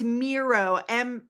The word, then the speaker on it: Miro: It's not Nero, it's Miro. How do you phonetically spell that? Meiro, Miro. It's German.